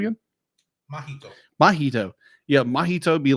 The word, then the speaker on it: Mahito: Is the story of our main character, who's how do you pronounce his name again? Mahito.